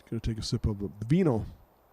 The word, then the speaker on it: vin: a sip of the vino. Vin. In French, it's vin. V-I-N. And you don't pronounce the N.